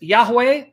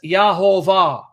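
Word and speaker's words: Yehovah: because of the documentation the Jews always pronounced the divine name not as Yahweh but as yahuveh which corresponds to Jehovah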